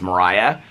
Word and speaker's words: Maria: And so the movie is called her name is it's spelled like Maria but it's pronounced Mariah and so the movie was called Mariah and so he just follows her around.